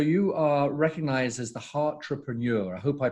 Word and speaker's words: Heartrepreneur: And so you are recognized as the Heartrepreneur. I hope I pronounced that correctly.